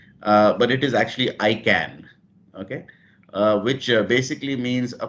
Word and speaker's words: IKAN: So first of all, the pronunciation, you kept on calling it Ekan, but it is actually ICAN, okay, which basically means a positive statement of intent if you look at it logically.